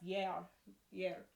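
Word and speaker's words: gear: So the word year in Old English is spelled G-E-A-R, like year, but it's pronounced year.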